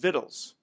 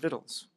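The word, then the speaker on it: victuals: tual but it's pronounced vittles Jethro Bodine asked granny when vittles was going to be ready that's how it's pronounced vittles there dwelt men of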